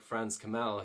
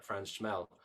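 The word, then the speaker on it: Franz Chmel: But again, somebody like Franz Kamel, who's my hero, or Franz Schmel, as I should pronounce it properly, his whole thing was tongue blocking.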